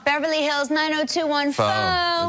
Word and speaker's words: pho: It's spelled P-H-O. Oh, pho? Pho. Pho? Pho. But no, because there's a noodle shop in Beverly Hills called Beverly Hills 9021 Pho.